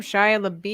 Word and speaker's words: Shia LaBeouf: Shia LaBeouf. Shia LaBeouf. Buff, Shia LaBeouf. Buff, beefy.